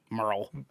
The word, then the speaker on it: Merle: me appeared in the TV series uh oh Merle Merle okay I wanted to make sure I pronounced that right I was like that e